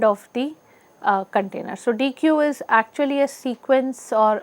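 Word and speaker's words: deque: because DQ is this DQ is exactly pronounced as the deletion uh operation in a q which is d uh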